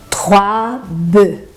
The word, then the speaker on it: bœufs: A mesma coisa acontece com a palavra boi, que é bœuf, un bœuf e 3 bœufs. Un bœuf, 3 bœufs.